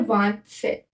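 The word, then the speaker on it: vingt-sept: 27 को बोलते हैं वांत सेट। क्या बोलते हैं? वांत सेट। इसको व, इसको क्या प्रोनाउंस करते हैं?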